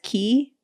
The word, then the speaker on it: Quay: Canadians pronounce as key.